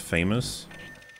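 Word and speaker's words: FAMAS: was a cool gun oh it's pronounced famous it is famous because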